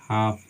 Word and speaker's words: half: कहता है यदि किसी इंग्लिश वर्ड में MFKD से पहले लेटर आए, से पहले एल लेटर आए, ठीक है, तो उस स्थिति में एल लेटर हमारी साइलेंट लेटर होती है। एग्जाम्पल देखते हैं, जैसे हाफ, HALF, ठीक है, जैसे मान लीजिए टॉक, TALK, ठीक है, जैसे बाम, BALM, ठीक है।